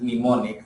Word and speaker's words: mnemonics: So assembly language uses mnemonics, M is silent, mnemonics for representing the